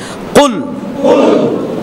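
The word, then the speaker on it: قل: তাহলে আমরা পড়ি কুল, কুল বড় কাফ, মনে থাকবে?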